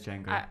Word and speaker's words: Django: It's spelled Django, Django, yeah. but I think it's pronounced Django. No, it is Django. Okay, It's good. pronounced Django. The D is silent.